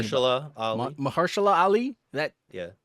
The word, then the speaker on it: Mahershala Ali: Masha what fuck, I can't pronounce his name. Mahershala Ali.